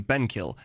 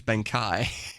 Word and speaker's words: Benkai: I've been calling you Benkill. Your name's Benkai.